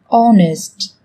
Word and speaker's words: honest: Trong tiếng Anh cũng có một số từ mà cách viết chúng ta thấy xuất hiện chữ cái h, nhưng khi phát âm thì chúng ta lại không cần phải phát âm này, người ta còn gọi là âm h câm.